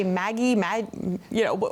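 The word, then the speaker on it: MAGI: short do you say Maggie mag you know how do you say the acronym Maggie is usually what I say this a little bit easier right okay so we're talking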